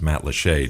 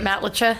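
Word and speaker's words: Matlacha: and places and I just learned how to pronounce Matt Lee two days ago were you calling it Matt lcha I may have been calling it something like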